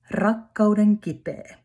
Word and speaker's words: rakkauden kipeä: And then the last competitor Kiki and name of the song is rakkauden kipeä. Remember to roll your roll. Roll your R.